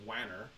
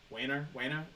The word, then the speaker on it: Wanner: I think it's Wanner, Wanner, W-A-N-N-E-R, Wanner. Yeah, sure.